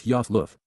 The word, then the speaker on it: Ayaloth: Ayaloth, pronounced as Yoth Luth, is being used as a divine title, similar to Elohim, although now in conjunction with the set-apart spirit.